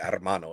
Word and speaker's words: hermano: __ ] hermano yeah you gotta roll your r's when you say armano otherwise if you got